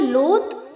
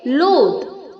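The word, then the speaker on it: loathe: एच ई है उसे हमें ना ही त प्रोनाउंस करना है लोत और ना ही थ प्रोनाउंस करना है लोत इसे हमें द प्रोनाउंस करना है द ओके लोद लोद लोद क्लियर घृणा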